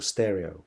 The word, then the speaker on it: Pstereo: at the music festival stereo, which has a silent P at the beginning if you would like to Google it.